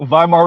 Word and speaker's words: Weimar: the same time without Weimar. there Yep. being It's hyperinflation. Weimar? So Weimar Republic. It's right. exactly. In German, the W is pronounced as a V.